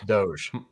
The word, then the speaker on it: Doge: It's pronounced... Doji. Dogi? Is it Dogi? Dohi. Fine, Dohi. I don't know. It's Doge.